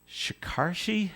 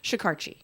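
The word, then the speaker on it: Shekarchi: Senator Jack Reed, along with the Speaker of the House, Shikarshi? How do you say it? Shikarchi.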